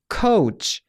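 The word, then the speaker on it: coach: 라는 단어 발음 여러분들 코치 이렇게 하시면 안됩니다 다름 개월 보시면 중간에 웁 a 및 살짝 들어 가는거 볼 수가 있어요 해서 카오 없이 카우치 요 중간에 우 바른 까 먹으시면 안되고요 정리를 해보자면 이렇게 됐죠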